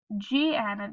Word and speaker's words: gnat: Then this word is GN at the beginning. The G is silent, so we have n, at.